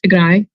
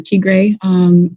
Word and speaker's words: Tigray: By the way, it's pronounced Tigray, not Tigray, attacking the Northern Command.